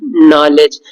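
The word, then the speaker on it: knowledge: के साइलेंट हो, तो ये वर्ड है नाइफ, नॉक, नाइट, नॉलेज, इन सब में के साइलेंट है क्योंकि के को पढ़ा नहीं जाता है।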